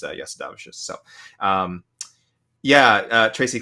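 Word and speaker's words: Jasudavicius: but um it is if you're cool like me and try to pronounce it the lithu the Lithuanian way it is Yas davish so um yeah uh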